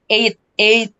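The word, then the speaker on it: عید: Eid. Jadi bacanya Eid.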